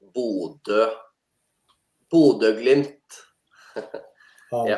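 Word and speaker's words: Bodø: It's pronounced Bodo.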